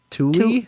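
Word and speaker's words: Thule: found that it's uh actually pronounced tly Tuli Tuli okay yeah um and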